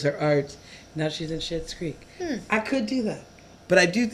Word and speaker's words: Schitt's Creek: It's How did they get away with naming a show Schitt's Creek? Schitt's Creek. Because it's not spelled like shit. I know.